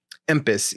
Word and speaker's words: Empis: The name Empis. Pronounce it one more time. Empis. E-M-P-I-S. Empis. Empis. I think. He's like, no, it is MP. It reminds me of the